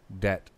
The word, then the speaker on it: debt: Debt. The B.